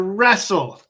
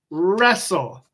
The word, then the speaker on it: wrestle: this one's a little bit bigger and harder wrestle wrestle wrestle so the WR for the and esel